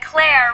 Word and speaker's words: Claire: Remember, it's no coincidence that Claire rhymes with care.